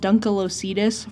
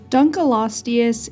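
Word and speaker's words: Dunkleosteus: is much the same I thought this animal was called dunal loius for the longest time so I'm going to try to make sure I say it correctly in this video but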